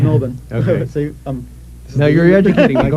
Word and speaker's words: Melbourne: you say Melbourne too yes I do it's Melbourne see now you're educ go right ahead as